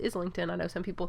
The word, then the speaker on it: Islington: lost by James Islington which I heard him pronounce his name and he says Islington I know some people say isington but I listen to him pronounce his own